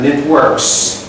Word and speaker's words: networks: The networks. Networks. Always pronounce the S at the end of the word.